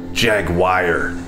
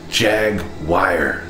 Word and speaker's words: Jaguar: some people pronounce jaguar jaguar i don't get it i need to turn around jag wire where do you see the wire it's jaguar and then